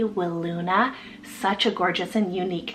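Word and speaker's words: Wiluna: also have willuna Fox it's spelled w-i-l-u-n-a will Luna such a gorgeous and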